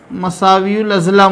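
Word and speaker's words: متساوی الاضلاع: Equilateral triangle यानी क्या, गौर कीजिए आप, यहाँ ते जो है तो साइलेंट है। हम मुतसावियुल अज़ला लिखते हैं, लेकिन इसको पढ़ते वक्त मसावियुल अज़ला ही पढ़ेंगे।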